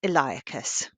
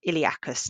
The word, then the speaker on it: iliacus: to flex the hip so that's iliacus or iliacus depending on how you like to pronounce it so here's the other